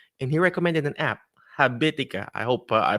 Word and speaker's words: Habitica: The goals, writing the goals, and he recommended an app, Habitica. I hope I pronounced that right. Yep, you did. That app, Habitica.